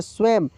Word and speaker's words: स्वयं: इस बिंदी का उच्चारण तो यहां पे स्वयं हम लोग पढ़ रहे हैं क्या पढ़ रहे हैं स्वयं यहां पे इस बिंदी का उच्चारण मा के रूप में हो रहा है ठीक है ना